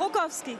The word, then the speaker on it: Rogowski: Ist der Nachname richtig ausgesprochen? Rogowski.